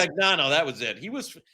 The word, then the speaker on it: Fagnano: It's pronounced. Fagnano, that was it.